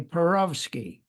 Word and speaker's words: Perowsky: from him uh he he used to call me perovsky perovsky the Russian pronunciation pronunciation yeah and are